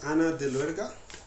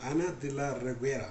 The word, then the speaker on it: Ana de la Reguera: Her name is Ana de Luerga, and she is from a movie that we love very much. It is Panzarin. No, Ana de la Reguera, that's how you pronounce it.